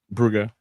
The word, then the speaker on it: Brugge: I was just informed by someone who's been there before that that's how it's said over there. So I want to try and get in the habit of saying it that way, if that's